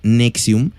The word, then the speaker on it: NXIVM: millonario tuvo mucho poder nx y vm o por su pronunciación nexium fue una secta que